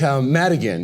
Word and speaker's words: Madigan: And I didn't pronounce that right, but it's Hatter McAdigan. It's Madigan actually.